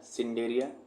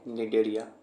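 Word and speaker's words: Cnidaria: colon tetra या डेरिया सी से शुरू होता है सिंडे नहीं पढ़ना सी साइलेंट रहता है इसको पढ़ेंगे डेरिया ठीक है यही है डेरिया इसका कुछ एग्जांपल है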